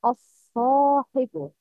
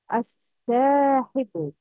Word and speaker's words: الصاحب: It's incorrect to lightly pronounce the letter Aleph if it comes after one of the heavily pronounced letters. Like, الصاحبُ. The right is الصاحبُ. The wrong is الساحبُ.